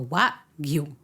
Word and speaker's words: wagyu: que la G la hacen muda, entonces dice 2 sílabas gua, y la G la hacemos muda, y entonces tenemos la Y y la U de la segunda sílaba, entonces Yu. es gua, yu.